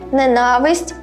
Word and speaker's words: ненависть: так люблю тебе ненавидіти запам'ятайте декілька слів ненавдіти ненависть ненависний Усі вони мають наголос на другий склад на літеру А і на нмт вам